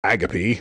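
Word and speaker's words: agape: of Lewis and he he says agapy it's really interesting how that is interesting cool it's it's a different pronunciation you know those o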